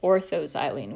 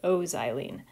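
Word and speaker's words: o-xylene: the single letter abbreviation o xylene but we pronounce it orthozylene we don't pronounce it ozylene when the substituents are separated by three or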